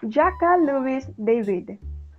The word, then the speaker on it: Jacques Louis David: Example, Napoleon in his study by Jacques Louis David, or in French it is pronounced as Jacques Louis David.